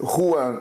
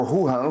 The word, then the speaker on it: Juan: Então o meu nome, Juan, as pessoas não conseguiam pronunciar, ficava Ruhan, Ruhan. E na época perguntaram, ó, podemos chamar você de Guhan?